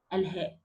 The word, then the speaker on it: الهاء: or to produce letter الهاء. Okay, opening the windpipe and releasing air. In this case, I'm going to pronounce letter الهاء only from the deepest part of the throat.